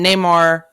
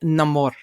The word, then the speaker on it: Namor: character coming in um Neymar or is it it's a name or if you say it like us but it's if you uh are listening to his story and how he got named it's gonna be no more anyway um that you